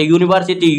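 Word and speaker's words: university: यूनिवर्सिटी बोलने हिंदी में उच्चार क्या होता है? यू से स्टार्ट होता है। य से य क्या है? व्यंजन वर्ण है।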